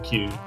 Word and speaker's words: Chewy: I think I'm just seeing the game chat that B has told us to pronounce Chewy like Q. So like Qy, I guess, or Q. Let's go with Q, I think.